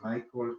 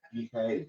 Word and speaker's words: Mijael: de Sebastián Thies y Michael, pero Mijael, gracias, Mijael, lo estaba pronunciando estadounidense.